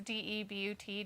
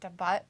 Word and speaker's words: debut: the butt it's a d-e-b-u-t debut but you always want to pronounce it the butt because that's what it looks like the butt and that's